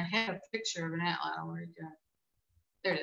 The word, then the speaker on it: atlatl: So speaking of weapons for a second, and please forgive my pronunciation. How does the atlatl work? It's actually atlatl.